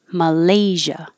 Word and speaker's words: Malaysia: Malaysia, excuse me, Malaysia. This SI is a Z, and Malaysian, Malaysian.